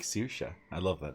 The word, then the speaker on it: Saoirse: It's pronounced Saoirse.